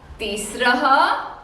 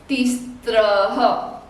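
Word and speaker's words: तिस्रः: कह रही हूँ because the common mistake even adults make while the pronunciation of the last letter is concerned, they call it तीस्त्रः। तीस्त्रः नहीं है, चतस्त्रः नहीं है। It is not स, त and र, स्त्र, no, it is स्र।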